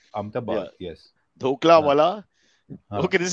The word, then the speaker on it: Ahmedabad: And, let me pronounce it properly. Ahmedabad. Ahmedabad, yes.